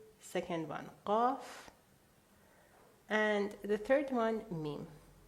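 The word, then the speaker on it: قاف: Now, pronunciation-wise, please don't try to pronounce it exactly as Iranians because you're going to get a sore throat. Just do your best, okay? It's glottal. Qaf.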